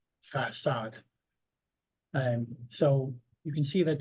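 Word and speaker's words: façade: The cedille serves to indicate that one must not pronounce k, but rather s or s. So, for example, sava, facade.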